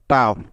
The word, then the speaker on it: tough: কারণ আমরা আজকের নিয়মটিতে এটাই শিখেছি যে শব্দের শেষে GH এর আগে ইউ এবং তার আগে কনসোনেন্ট থাকলে শেষের GH এর উচ্চারণ ফ হয়ে যায়, যার জন্য GH এর পরিবর্তে নিয়ে নিব ফ।